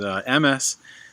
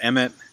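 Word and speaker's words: אמת: Ashkenazis would pronounce it Emes. Sephardis would pronounce it Emmett.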